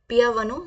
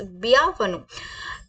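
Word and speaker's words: bienvenue: कर लेते हैं वेलकम मैंने आपको बताया पिया वन सॉरी मैं दोबारा बता रही हूं इट्स बिया वन now next word is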